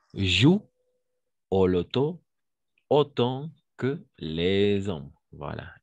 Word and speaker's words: les hommes: jouent au loto autant que les hommes. Voilà. Et ici, on va faire la liaison. Les hommes, parce que c'est un H muet.